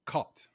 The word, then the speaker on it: Cartes: Pronounced caught, right?